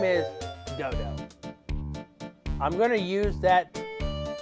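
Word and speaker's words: Godot: it clearly looks like God Dot and as far as I know in the English language we don't have a silent T at the end of the word I don't believe in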